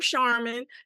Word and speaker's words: Sharman: be here well um you pronounce my name charman just like the stuff you buy in the store that's exactly how you pronounce it and I'm born and